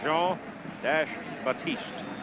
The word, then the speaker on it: Jean-Baptiste: And Jean-Baptiste carries the ball to about the 43. That is not a mispronunciation. His last name in total is Jean-Baptiste.